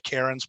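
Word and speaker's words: Charon: Okay, have we heard about the whole thing with the Karens? What is that about anyway? So so apparently you're supposed to pronounce Pluto's moon Karen.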